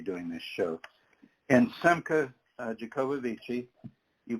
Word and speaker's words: Jacobovici: He says Jacobovici, but when you look at it, it's Jacobovice. And he has told me that people pronounce it both ways. He's perfectly good with Jacobovici.